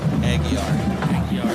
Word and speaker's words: Aguilar: Aguilar, that tricky silent L and I.